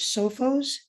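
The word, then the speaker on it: Sophos: ones out there look for software such as sofos it's spelled s-o-p-h-o-s look for malware antibites those are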